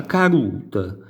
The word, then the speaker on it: caduta: La caduta, vedete, si scrive caduta, si continua a scrivere caduta, ma si pronuncia carut.